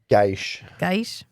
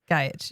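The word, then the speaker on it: Gajic: Gaish. That's how she pronounces it. Aldous. Do you? And since it's Mira Furlan's husband's last name, I'm gonna go with Delen's pronunciation. Yeah, which is like Gaish. Gaish.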